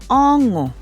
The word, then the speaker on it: ọṅụ: Remember that to get this sound, ong, with the N with the dot on top, you have to say it like you're saying ing in English. Ọṅụ, like coming.